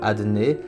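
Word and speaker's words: אדני: Mais étant donné qu'il est prononcé différemment, il est prononcé comme le nom de Adné, Aleph Dalet Nun Yud.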